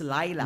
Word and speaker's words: Leila: actually It's spelled like laya but Actually It's pronounced as Layla l a i but the spelling is le i l Okay so at least I know to call you Manay Layla pala okay L mm yes and then the